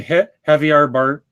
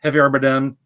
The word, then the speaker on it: Javier Bardem: And on the topic of what the race of King Triton is going to be, apparently Javier Bardem, if I'm pronouncing it right, Javier Bardem, Right.